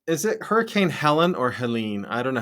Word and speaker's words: Helene: So is it Hurricane Helen or Helene? I don't know how to say it. Helene.